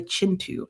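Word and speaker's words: Kintu: Um the K in there is pronounced as a ch. So it is pronounced chintu.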